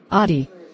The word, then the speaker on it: Aadi: you it's pronounced ai ai are you sure yes that's right the first part A is like the uh sound in Father try saying ah ah perfect now add D